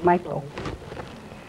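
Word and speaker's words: Mae Ploy: How do you pronounce it? Maplo.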